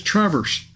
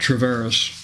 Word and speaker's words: Traverse: I looked at it I saw the pronunciation and I'm assum I'm assuming I read it right it's Traverse and uh so uh not travas so yeah uh I